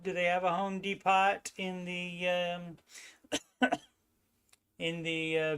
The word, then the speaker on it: Depot: which is a Midwest version of The Home Depot and the uh yes and I know it's pronounced Depot but I used to work at